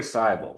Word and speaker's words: Cable: It rhymes with Bible.